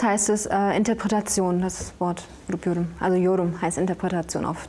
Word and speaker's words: Grup Yorum: Ja, als erstes euer Bandname, habe ich ihn überhaupt richtig ausgesprochen? Ja, Grup Yorum.